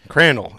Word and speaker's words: Crandall: Crandall. It rhymes with candle.